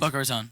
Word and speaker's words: Boca Raton: Boca Raton.